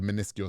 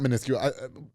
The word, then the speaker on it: minuscule: We don't entertain the minuscule shit. If that's a word, that's not the word. What's the word I'm looking for? It's not minuscule. Minuscule. That's how you pronounce it.